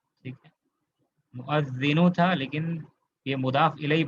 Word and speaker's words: مؤذن: پر حمزہ ہے، حمزہ کے اوپر فتحہ ہے، مؤذن، ٹھیک ہے. مؤذنو تھا لیکن یہ مضاف الیہ بنا ہے، تو لہٰذا کیا ہو گیا یہ مؤذنی.